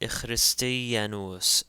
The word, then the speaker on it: ichristianos: So in this case, we have the word ichristianos, ichristianos. The K in this case takes a ch sound.